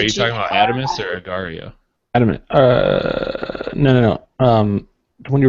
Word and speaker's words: agar.io: How do you spell it? Wait, are you talking about Adamus or Agario?